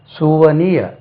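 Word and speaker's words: souvenir: hour போட்டீங்களா செவன் hour சுவனிய அதாவது அது வருஷத்துக்கு ஒருக்கா போடுவீங்களே that is kind of book bar a kind of remembrance that is சுவனிய அது சுவனர் இல்ல சுவனிய சுவனிய இன்னொரு வேர்ட் காமன்லி மிஸ்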